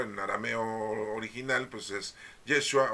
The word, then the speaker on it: Yeshua: pero el hebreo en arameo original pues es yeshua o yeshua como lo quieran ustedes pronunciar yeshua Ese es su verdadero nombre de